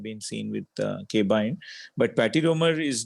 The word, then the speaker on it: patiromer: Can you please spell it out for us? Yeah, PATIROMER, patiromer.